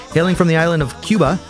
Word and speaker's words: Cuba: Hailing from the island of Cuba, or Cuba if you want to say it correctly, he's hitting us with an eclectic mix of funk, pop, reggaeton, and Latin fusion.